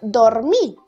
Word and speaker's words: dormir: va a llevar tilde la palabra dormir es aguda porque se acentúa en la última sílaba si no sería dormir y entonces se transformaría en grave y lleva tilde por qué porque termina en vocal si terminar en ese o si terminar en n también llevaría tilde ahora la palabra mástil es